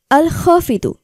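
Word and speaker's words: الخافض: হাফিদু জিকিরের আমল ও ফজলত তুলে ধরা হলো উচ্চারণ আল খাফিদু অর্থ কাফের মুশরিকদের হীন ও নিচুকারী আল্লাহর গুণবাচক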